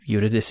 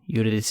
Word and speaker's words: Eurydice: And then you try and pronounce it and you go, well, it's Eurydice Games.